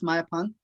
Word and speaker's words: Mayapan: Yes, Mayapan.